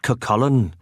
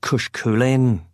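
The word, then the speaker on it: Cú Chulainn: It's pronounced Kakullen, not Kushkin, I said with a smug grin.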